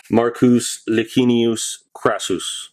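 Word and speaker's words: Marcus Licinius Crassus: down his throat was crassus probably the proper pronunciation would be marcus lagunius krasus what year was the gold mercury dime slq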